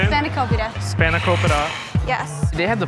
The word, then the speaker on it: spanakopita: SPANAKOPITA.